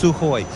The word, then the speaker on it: Sukhoi: and course flying the Sukhoi su-24 su-30 I've got to practice my Russian graduates its Sukhoi even though there's a K in there apparently you don't pronounce the K it's sooo high and